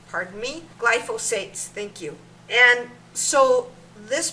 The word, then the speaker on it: glyphosates: It has glyphosites. I believe that's how you state it, but if I'm not saying it correctly, pardon me. Glyphosates, thank you.